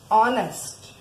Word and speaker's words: honest: Honest. Here first letter begins is H. And H sounds and we pronounce as honest. So here letter H is a silent letter and the sounding letter begins is O.